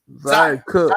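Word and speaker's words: Zia Cooke: Is it pronounced Zaya or Zia? Zaya Cook. Zaya Cook.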